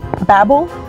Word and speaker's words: Babel: five of all time Babble yes you can pronounce it Babble or Babel both ways are correct um and this is